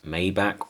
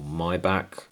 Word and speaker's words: Maybach: up the mercedes-benz s-class maybach or my back depending on how you say it s650 v12 first class